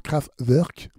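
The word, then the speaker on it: Kraftwerk: je penserai pas c'est le groupe craft work craftwork aussi il y en a qui préfèrent le prononcer comme ça tirer de l'album computer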